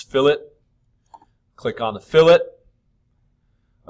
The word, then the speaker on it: fillet: It is not pronounced fillet. It's fillet.